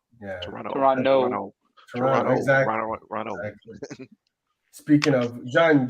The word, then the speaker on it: Toronto: But you gotta the last T is silent there, Mark, and it's Toronto. Yeah. Toronto.